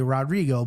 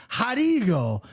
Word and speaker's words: Rodrigo: So I did a lot of tape study on him, and that R confuses me because I want to say Rodrigo, but it's Rodrigo Nascimento.